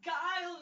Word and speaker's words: Guile: kicking the ass of Gil. I think that's how it's pronounced. It's Guile, not Gil!